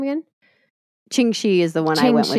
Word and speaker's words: Ching Shih: Ching Shih is the one I went with, but there's 3 different names but they all mean variations of her husband's name.